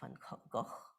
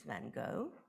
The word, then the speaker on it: Van Gogh: is well known, and in German, you would pronounce it as Van Gogh. In English, as I understand, in American English is Van Gogh. In British English, my pronunciation would be something like Van Gogh. And the Dutch original, I hope there are Dutch speakers here, is Van Gogh, both a ch and a Gogh, right?